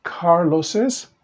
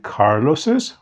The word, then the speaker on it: Carlos's: Por ejemplo, Carlos, y ahora sí pronunciamos la segunda S que dice Carlos's book. ¿Ok? O a muchas personas lo van a escribir así. Tal vez no escriban este apóstrofe S, sino que solamente escriben el apóstrofe y dice Carlos, pero seguimos pronunciando la segunda S, Carlos's book.